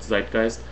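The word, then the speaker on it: Zeitgeist: a video available uh it's called sist um it's spelled z e i uh uh t g e i s it's the German word zist and uh there's also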